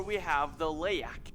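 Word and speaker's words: Leyak: Moving into number 4, we have the Layak, or in Indonesia, people call it leek. They don't like to pronounce the Y.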